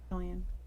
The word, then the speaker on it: Cillian: Yeah, Cillian. The hard C.